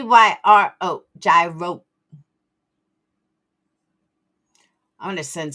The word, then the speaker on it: gyro: The proper way to say it is Yro. G is silent.